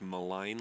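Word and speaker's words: Maligne: It's Malign Lake. With a silent G, it messes it all At up.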